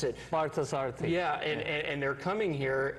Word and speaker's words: Parthasarathy: to you, your teacher, Swami, I'll let you pronounce it. Parthasarthi.